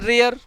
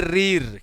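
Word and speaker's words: rear: आर से जो सामान्य प्रोनाउंसिएशन निकल रहा है वो तो निकल रहा है रियर, पर इसको हम पढ़ेंगे रीर। क्या पढ़ेंगे, रीर पढ़ेंगे इसको, ठीक है ना।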